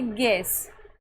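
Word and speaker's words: guess: Seventh rule है जब किसी शब्द के बीच में यू ई हो तो इसका उच्चारण ए ई और अ करेंगे। कब करेंगे? जब किसी शब्द के बीच में यू ई हो। तो जैसे कि गैस।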